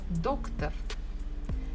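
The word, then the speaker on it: доктор: doctor Russians will be doctor so I can hear that stress falls on the first syllable doc doctor doctor here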